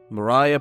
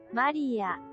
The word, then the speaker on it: Mariya: Translate it to Japanese, because it's, of course, supposed to be good old Japan. So let's see. How do they pronounce it? Maria. Yeah, it is Maria. Anyways.